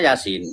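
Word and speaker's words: يس: Ya Sa, tulisannya Yasa, tapi bacanya Yasin, Yasin, gitu kan.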